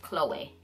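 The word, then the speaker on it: Chloé: see c.h.l.i and that's usually how you pronounce like a girl's name girl named Chloe you say Chloe but for the designer if you guys notice it has an accent over E so it is actually pronounced Chloe so it is not Chloe like your home girl Chloe or Khloe Kardashian with the K it is Chloe with the C with an accent over the e so it's Chloe so yeah that is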